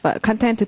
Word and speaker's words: content: 가겠습니다 자 소 읽으시면 텐 어 컨텐 하기도 하고 컨텐트 하기도 하고 발음이 두 가지죠 예 발음 제대로 돼